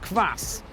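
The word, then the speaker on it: квас: here there is something k b a c is pronounced class and it's rather bizarre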